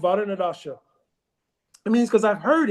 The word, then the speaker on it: Varaṇa-daśā: Varaṇa-daśā, yes.